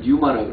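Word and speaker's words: πνεῦμα: 그러니까 pneuma인데 푸는 이제 묵음이니까 보통 뉴마라고 그래요.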